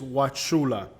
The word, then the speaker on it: Wauchula: it looks like now the pronunciation of this town to the locals is watula a lot of people don't know how to pronounce it right they throw the U in there most likely because